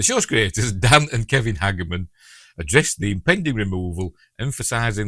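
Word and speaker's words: Hageman: I don't I've heard somebody else pronounce it like that. So, um I think it was I think it were Ellie from Tre Culture. I think she said Hagerman. So, we're going with that because Ellie is lovely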